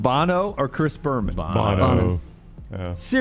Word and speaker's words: Bono: Do I pronounce it right? Yes. Bono.